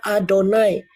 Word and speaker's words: Adonai: Tapi nggak dibaca Yahweh ya, ingat ya, mereka membacanya Adonai.